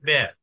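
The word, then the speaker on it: Б: আমরা বি উচ্চারণ করেই মাথায় মানে আমাদের কাজ চালিয়ে যেতে পারি, কিন্তু উচ্চারণ হবে ব্যয়। রাশিয়ানরা এটাকে ব্যয় উচ্চারণ করে।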